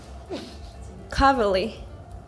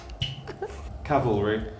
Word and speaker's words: cavalry: Arkansas Arkansas cavalry coverly I'm sorry oh God cowardly he's getting stronger once again that would be painful okay coverly Cavalry what what so in British RP we would say Cavalry Cavalry oh cavalry cavalry actually